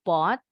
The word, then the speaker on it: bought: Bacanya bought, huruf U-nya nggak bunyi.